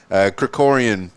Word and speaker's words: Krikorian: Krikorian, and I'm glad that you pronounced it because I was working on the enunciation, the word Krikorian, and I hope I'm pronouncing it properly now.